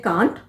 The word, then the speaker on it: can't: ये जो CAN' है ना, कुछ लोग इसे बोलते हैं कांट और कुछ लोग बोलते हैं कैंट।